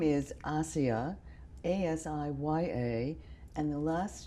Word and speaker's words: Asiya: So the name is Asiya, A-S-I-Y-A, and the last name is, which is spelled.